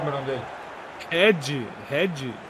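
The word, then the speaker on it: Hedhi: Ed. Red. É H-E-D-H-I. Ed House, pô. Ed? É, porque em homenagem ao Ed Murphy e a Bala House, tá ligado?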